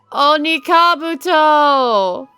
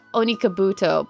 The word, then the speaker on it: Onikabuto: Onikabuto! I used to call it Onikabuto, but Onikabuto is the actual pronunciation.